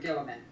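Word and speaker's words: Guilliman: Okay, so you were both right and wrong about Reboot Gilliman. Oh, here we go. And it's, Ooh. Oh! it's actually pronounced Robooty Girly Man.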